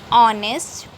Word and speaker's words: honest: So my dear students, look at the word honest. Here H is silent. So here we have to use an instead of a. Mohit is an honest boy.